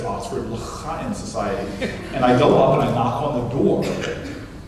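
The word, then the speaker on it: לחיים: And then somebody looked at me, Corey, and said the word's pronounced L'chaim. And I said, something caught in your throat. And they said, no, that's how you pronounce the word, L'chaim, to life.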